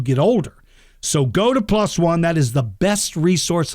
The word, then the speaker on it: PLOS ONE: Not plus, it's spelled PLOS and then ONE, 2 words. PLOS One, PLOS One. They pronounce it different.